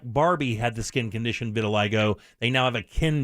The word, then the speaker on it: vitiligo: And they also have a Ken doll that has the skin condition vitiligo. Is that how you pronounce it? Vitiligo? Yes, it is.